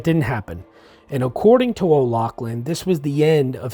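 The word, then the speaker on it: O'Laughlen: kind of conspiracy conspirators in this uh michael o'lachlan he was a conspirator in the assassination of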